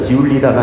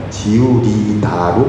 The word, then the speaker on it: 지우리다: 술안주는 술안주라고 발음하는데 지우리다는 지울리다가 아니라 지우리다로 발음된다는 거죠.